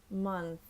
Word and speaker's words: month: mouth and my tongue month notice the tongue comes out and up a little bit it's those little things